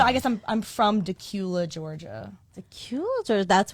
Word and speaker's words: Dacula: And so I say I'm from Decula because that's where I went to high school. That was a city that was like the most populated near me. And no one could ever say it right. They always called it Dacula.